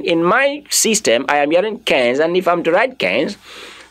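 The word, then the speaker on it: quinze: The last E is not pronounced. Of course, you should take note again. Last E is not pronounced. Nobody should try to say Kenza, Duza, Onza, Dude. No, no, no. You don't go that way. You only end your pronunciation in the Z.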